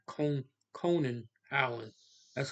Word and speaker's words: Konijn Eiland: Dutch language Dutch language is saying cone con Conan Allen that's how you say it in Dutch so